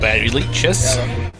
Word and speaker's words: Barry Leitch: music that the music in it is by… Barry Leitch. Wait is that how you pronounce it? Yes, Barry Leitch.